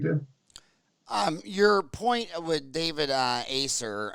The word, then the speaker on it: Acer: Your point with David Acer, I think it's pronounced Acker, David Acker, Okay.